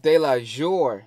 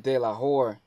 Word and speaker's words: Delajore: Alright, so it's J Hus Delajore, not Delajore. I'm saying Delajore because in Miami and grew up with Spanish people, there's a lot of Spanish people around here. And J. It's pronounced like an H, so I see Delajore, so that's why I pronounced it like that.